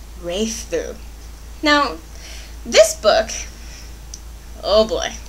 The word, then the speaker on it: Wraeththu: You can't even pronounce the title without looking it up on Wikipedia, which I did. And I think it's Wraith Boo.